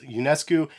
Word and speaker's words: Ionescu: But this is the iconic colorway of the Sabrina ones from Nike, and I believe Sabrina's last name is pronounced Ionescu, and these retail at $130.